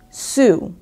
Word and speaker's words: xu: And the word is sou, which is spelled XU, and it is the monetary unit of Vietnam.